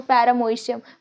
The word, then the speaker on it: paramecium: बट पैरामीशियम have, अब यहाँ पे ना ओ साइलेंट है, ठीक है, तो पैरामोइशियम, बट उसको कैसे पढ़ेंगे यार?